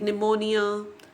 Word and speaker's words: pneumonia: Other examples like pneumonia, psychology, wherein P is silent, island, S is silent, whistle, T is silent, campaign, G is silent, bristle, T is silent.